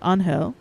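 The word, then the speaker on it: Ángel: Me and Angel, pronounced Angel, he's Hispanic, Angel, are making the finishing touches on it tonight.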